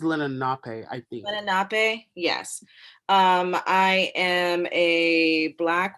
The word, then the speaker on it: Lenape: Lenape, yes.